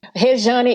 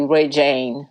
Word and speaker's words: Rejane: Rejane is the right pronunciation. It's in Portuguese. Oh, it's Portuguese. Oh. Yeah, and American people, they always say Regine.